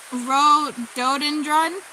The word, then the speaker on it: rhododendron: So Judy told me how to pronounce which the word I couldn't pronounce. It's rhododendron.